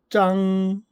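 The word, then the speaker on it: 张: 조금 간단하게 표현 돼 있고 중국어 발음으로는 짱 짱 이렇게 발음이 되죠.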